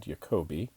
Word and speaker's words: Jacobi: Webb in this video we're going to be talking about jacobians although probably it should be pronounced jacobians because it's named after a German mathematician named Yoko B and has nothing to